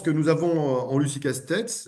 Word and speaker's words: Castex: Je pense que nous avons en Lucie Castex, je prononce Castex parce que si vous voulez, c'est un nom de famille béarnais. Moi, je suis moi-même issu du Béarn et donc on prononce toutes les lettres.